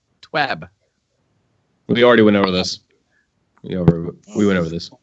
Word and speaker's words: TWAB: Josh G says it's this week at Bungie, so shouldn't the proper pronunciation be a short sound, such as in cat? TWAB. TWAB.